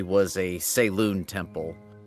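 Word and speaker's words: Selûne: Forsaken Temple, if he recalled correctly, was a Saloon temple. Selune. A Saloon. I can't pronounce right today.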